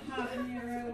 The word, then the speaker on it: habanero: Not habanero, what is silent.